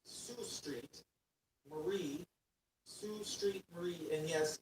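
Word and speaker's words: Sault Ste. Marie: ST Salt Street ST Marie, Michigan.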